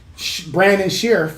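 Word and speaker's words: Brandon Scherff: to it they got former all-pro uh uh brandon sheriff that's how you say his name sure the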